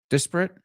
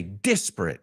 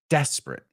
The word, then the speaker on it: disparate: of the same also there are some people I think that say disparate and other people say disparate but either way it's not desperate right desperate so this